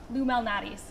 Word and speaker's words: Lou Malnati's: Some people in Chicago say Illuminati's, and some people say Illuminati's. What is the name? Illuminati's. Got it. So you pronounce that L.